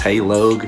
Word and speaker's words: heylog: another reaction for y'all boys now we got hey log somebody told me in the comments uh the last hey log video that is pronounced hey log because his name's Logan and that's true and